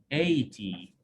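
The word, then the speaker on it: eighty: Remember, students, in 80, GH is silent. Because if we have I before G and H become silent. 80.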